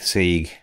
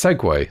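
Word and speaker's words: segue: That was a smooth sieg. Smooth sieg. And sophisticated sieg. Did I say sieg? It's segway. So that's pronounced.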